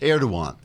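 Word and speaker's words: Erdoğan: riots which angered president erdogan which is pronounced erdogan because the g is silent as in hottest the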